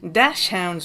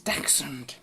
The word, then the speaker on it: dachshund: Dash hounds we ain't, it's dachshund.